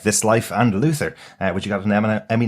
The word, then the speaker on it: Luther: ever pronounce the name of that show as Luther because I think most people pronounce it as Luther which is something that you get dead skin